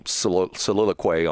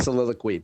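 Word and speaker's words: soliloquy: You asked me when I put my my little saliloquay on all these different Is that a tribal word? Good word saliloquay. Is it? Yeah, it's Yeah, it's not pronounced quay. It's saliloquy.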